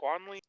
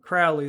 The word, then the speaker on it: Crowley: The house was how you pronounce it? Quanley? Crawley? Crowley is a name. He's Crowley.